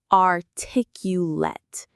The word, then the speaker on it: articulate: Let's break that down into its four syllables. Are tick. Ulet. The stress, the strongest part of the word is on that second syllable, tick. Let's say it slowly. Articulate. One more time. Articulate. But when we use it as a verb, an action word, the ending sounds like the word late. Articulate. Artic you late. The stress is in the same place, but the ending is sharper.